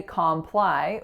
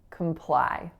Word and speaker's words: comply: the letters aren't helpful so we don't say comply we make that a schwat so we're saying comply comply the next word is Infamous Infamous now